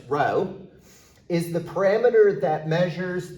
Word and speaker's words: rho: correlation coefficient denoted by the Greek letter rho and pronounce rho is the parameter that